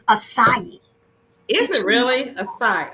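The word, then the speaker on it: açaí: And so it has aca berry, yum berry. But first of all, we keep saying aca berry. The correct pronunciation is acai.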